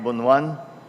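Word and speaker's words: Bonoan: DPWH secretary secretary Man bonan And that's the proper pronunciation By the way of his of His name not bunan is bunan um Uh the the proper Ilocano translation Uh the honorable members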